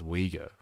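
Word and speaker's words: Uyghur: Also it's pronounced we go.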